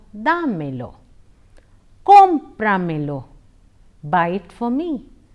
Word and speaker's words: dámelo: In the expression damelo, the accent falls on a of da. Hence, it is pronounced as dámelo, dámelo.